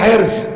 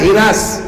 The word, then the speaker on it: حرص: تو حرص مانے بولیے لالچ, اصل تلفظ ہے اس کا حرص. لکھنؤ میں جائیے ہو جائے گا ہرس, ہے نا, ہمارے گاؤں کی طرف جائیے ہو جائے گا ہرس, لیکن صحیح تلفظ کیا ہے؟ حرص.